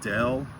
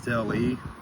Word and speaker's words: Delle: I think it's pronounced Jeremy Wade Dell. I don't think it's Del E, but um I'll have to research that.